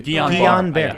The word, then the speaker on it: Guillain-Barré: I always mispronounce it. Yeah, me too. Guillain-Barré.